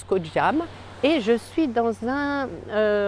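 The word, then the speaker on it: Koh Jum: Je suis sur l'île de Koh Cham, en Thaïlande, ça s'écrit J-U-M, mais ça se prononce Koh Cham.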